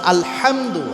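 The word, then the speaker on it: الحمد: মানে শুধু আলহামদু যখন আপনি পড়েন, আর যখন আপনি পড়বেন আলহামদু হা, যখন শুদ্ধভাবে উচ্চারণ করবেন, একটু চেষ্টা করলেই হয়।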